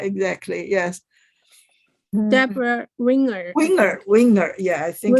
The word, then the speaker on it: Winger: Deborah Ringer?